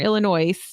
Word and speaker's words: Illinois: that sayate again Illinois that is not what you said Southern Illinois you put an S on the end of that you did I said Southern Illinois with an S the